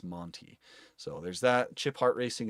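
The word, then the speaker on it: Manthey: Um, there's the Somebody told me that it's pronounc uh pronounced Monty Monty Racing. I thought it was Manthy for the longest time, but somebody told me it's Monty.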